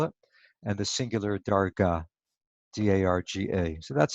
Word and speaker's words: darga: The Aramaic is darga. You could spell it D-A-R-G-A, Dalad Resh Gimel Aleph. Darga, like the Hebrew madrega or daraga.